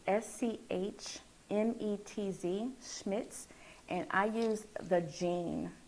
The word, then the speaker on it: Schmetz: Sure, I use, I'm going to spell it for you. It's SCHMETZ, Schmitz, and I use the jean needle.